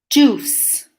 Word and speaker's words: juice: Juice. Juice makes a s sound, juice. Be careful with the, yeah. Juice. You Yeah. don't pronounce the I.